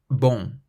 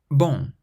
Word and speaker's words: bon: Your throat still closes and the sound has to come out through your nose. Bon, bon, meaning good, bon.